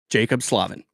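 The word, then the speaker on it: Jaccob Slavin: Because I guarantee you, anyone watching this, they will walk away knowing how to pronounce his name. Jacob Slavin.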